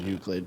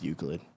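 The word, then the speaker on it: Euclid: Well, it's the thing that I said which was Uklid. So, it's definitely that. I guarantee it's Uklid.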